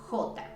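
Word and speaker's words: jota: and the letter k the letter j in spanish is hota repeat with me hota and it has a sound very similar to the h in english so it has a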